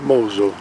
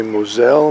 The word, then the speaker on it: Mosel: there's ice scanning here this is the Mosel French say Moselle maybe the Americans say Moselle oh there's our boat